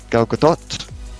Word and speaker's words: Gal Gadot: stuff, and it's like just Chris Pine and Gal Gadot, is how you pronounce it.